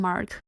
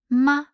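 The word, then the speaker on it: 吗: English Connection words but and it's short and deemphasized for example the Chinese word ma without a tone Mark is the question particle ma ma the word Pap means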